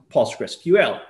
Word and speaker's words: PostgreSQL: the official name it's possible sql which is pronounced postgresql right so paused like a blog post that